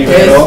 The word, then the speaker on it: Ibero: El Ibero con acento en la O.